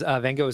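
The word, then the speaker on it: Van Gogh: know that but since most people say van go I also say van go but it is Van go that is the correct way to do it Maleficent Darkhorse the number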